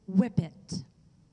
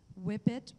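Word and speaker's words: whippet: analment your word is whip it can you please repeat the word there are two pronunciations of this word whip it or whip it whip it whip it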